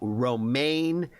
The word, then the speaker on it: Romaine: got us checking out Romaine. I said it right this time because I do know it's like the lettuce.